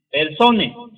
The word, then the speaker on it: personae: Persona es un término que tiene su origen en el término personae, que se dice persone. Se escribe personae.